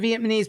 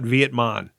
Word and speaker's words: Vietnamese: It's not Vietmon. I didn't say that, did I? You said Vietnamese. Vietnamese. How do you say that? It's Vietnam. Vietnamese. Vietnam, right? The N comes before the M. And you say Vietnamese.